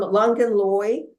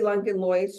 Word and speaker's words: Langenlois: This is from Langenloy, or, you know, I would say Langenlois, but I've been counseled to perhaps not pronounce the S.